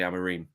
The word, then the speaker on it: Amorim: I've spoken to a lot of Portuguese experts, over the last couple of weeks, and they all say Amorim.